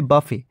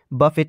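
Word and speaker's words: buffet: এর আমেরিকান হবে বাফে এর প্রোনাউন্সিয়েশনটা হবে বাফে বাফেট নয় নেক্সট কোশ্চেন আছে আমেরিকান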